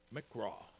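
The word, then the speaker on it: מקרא: original manuscripts, and in English it would be pronounced mikra or magraw.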